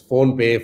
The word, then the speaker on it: PhonePe: It's PhonePe, phonetically sounds like there's payments involved.